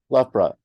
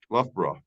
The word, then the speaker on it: Loughborough: the field in and I'm sorry I can't pronounce the name of the city the Loughborough l-u-f-b-r-u Loughborough yeah I know it's l-o-u-g-h-b-o-r-o-u-g-h I got it